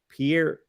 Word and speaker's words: Pierre: Pierre, South Dakota, not Montana.